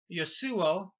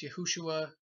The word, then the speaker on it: Yeshua: But so, and his name was, I would pronounce it as Yeshua, or as others pronounce Yeshua, and various other pronunciations, Yehoshua, etc.